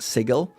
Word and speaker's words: Sigil: The word in the English dictionary is Sigil. However, the city in the D&D world is Sigil. Officially, it's pronounced Sigil, which is fair.